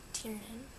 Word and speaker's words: Tiernan: used copy of bail Fire by Kate Turin Tiernan that's how you say it which seems interesting